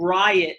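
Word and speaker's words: RYOT: There is one called Riot, and it's spelled ROYOT, and that's the video where Monica.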